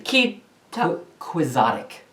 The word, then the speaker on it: quixotic: Kizotic. Kizotic. It's actually quixotic. Quixotic.